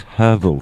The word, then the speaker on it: herbal: and then like afterwards I will have some herbal tea no it's herbal tea herbal y'all we're